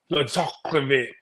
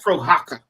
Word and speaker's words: Prochazka: I say his name is Prochazka, something like that. I love how you say his name. It's Prochazka.